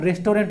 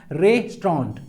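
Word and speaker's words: restaurant: है नेक्स्ट आता है रेस्टोरेंट इसको सब कोई बोलते हैं तो रेस्टोरेंट नहीं होता है इसका जो सही प्रोनाउंस प्रनंसीएशन होता है रिस्ट्रॉन्ट क्या होता है रेस प्रांत तो रिस्ट्रॉन्ट इसको प्रोनाउंस करना है restronaut ओके ना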